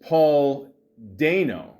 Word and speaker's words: Paul Dano: But, uh I don't understand all the hate with uh Paul uh Dano. See, now it's actually pronounced Paul Do.